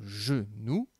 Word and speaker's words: genou: Alors, le mot genou va dans la colonne de gauche. Le G se prononce J.